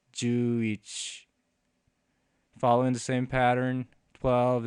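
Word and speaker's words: 十一: So you can just write the character for 10 and the character for 1, and that becomes 11, which is pronounced Juich.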